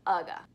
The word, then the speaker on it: UGA: And everybody wants to take a picture with Ugga. Ugga is spelled UGA for those who don't know, and UGA is the University of Georgia, so therefore, Ugga.